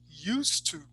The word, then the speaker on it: used to: or not so say you don't say the T much like the look